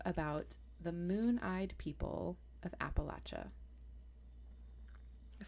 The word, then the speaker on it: Appalachia: who's mad right now it is pronounced Appalachia not Appalachia and I will die on that Hill I think it's kind